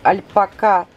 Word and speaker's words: альпака: и склонение слова альпака строгое Академическое правило ударение на последний слог и не склоняется иностранное слово Что вы хотите так что альпака свитер или альпака 100.000 альпака будет неизменно